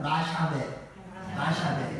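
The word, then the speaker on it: לַשָּׁוְא: 라샤베. 이게 이제 발음이 우리는 안 해봐서 잘 모르는데, 이 라샤베라는 말은 헛된, 거짓된, 무익한이라는 뜻과 또 함부로라는 뜻을 가지고 있어요.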